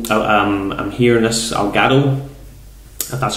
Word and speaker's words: Elgato: at um also um I'm here in this algado that's how you pronounce it uh to record so I might